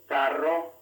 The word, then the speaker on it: carro: the word butter rosa the double r found only in the middle of a word has the same sound a single r in the middle of a word has just one flap of the tongue compare perro pero carro